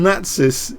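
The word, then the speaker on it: Natsis: I'm going to say it how I pronounce my name. Natis is a Greek player.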